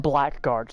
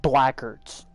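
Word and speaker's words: Blackguards: the black guards and nobody is pronouncing it right what you mean they're not calling them black guards they're calling them blackards they're cutting out the gu and they're just calling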